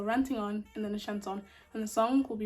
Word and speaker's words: chanson: Well, it's actually pronounced Chanson, but we won't get into the logistics of it.